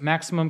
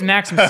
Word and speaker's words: Maximus: and your company first Maximum Communications you're based in New York Maximus Communications it is Maximus see I said that when I said Nexus I think I said it wrong yeah yeah so I've